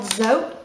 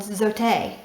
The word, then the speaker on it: Zote: A lot of the, and by the way, this is not called Zote. I've been saying it wrong. It's called Zote. Zote? Zote? In English. But anyway, in English, it's Zote, okay?